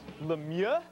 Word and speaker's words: Lemieux: season and playoff run max lemieux that's how you say it just say mario